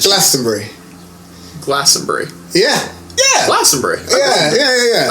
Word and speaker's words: Glastonbury: Okay, so it's Glastonbury. Glastonbury. Brie. Yeah. Brie. Yeah. Like cheese. Yeah. Like Glastonbury.